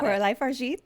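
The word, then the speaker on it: Coralie Fargeat: Yeah, you got Coralie Fargeet.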